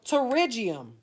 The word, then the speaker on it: pterygium: pronounce that nail pterygium I know the p is silent the American language I tell you Boy you know you know learning to read and speak English is the hardest language to ever of any language we got a lot of stuff just don't make no sense right right so pterygium is how that's pronounced so this is abnormal